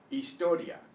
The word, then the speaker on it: historia: The H in Spanish is always silent except in the combination of CH, where it's pronounced the way we pronounce it. So, I, E, A, O, U, instead of pronouncing the H. It's silent.